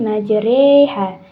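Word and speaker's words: مَجْرٰىهَا: maka dibaca dengan Bismillahi majreha Bismillahi majreha jadi rnya dibaca dengan e ya Bukan dibaca dengan fathah untuk sekali lagi baca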